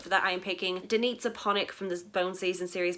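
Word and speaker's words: Danica Panić: that I am picking Danitza Ponick from the Bone Season series by Samantha Shannon, and yes, that is how you say her name.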